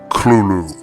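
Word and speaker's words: Cthulhu: It is pronounced Clulu. Clulu.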